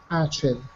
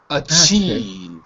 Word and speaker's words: achieve: um uh achieve good achieve acheve not not achieve achieve second syllable ACH achieve achieve achieve if